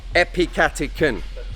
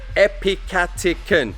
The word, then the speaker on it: epicatechin: to help you guys out ap chapter can epicatechin say it with me epicatechin say bosch epicatechin epicotyl i always just go it's just like